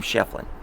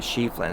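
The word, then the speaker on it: Schieffelin: If you go to Tombstone, they pronounce his name Shefflin. So you're always going to hear, you know, Shefflin. Shefflin. Shefflin Hall.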